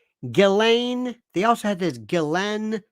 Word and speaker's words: Ghislaine: especially you je galain remember that one galain they also had this